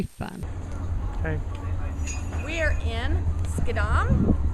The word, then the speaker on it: Schiedam: okay we are in skadam we would say shadam how it's spelled but it's gadam and uh this is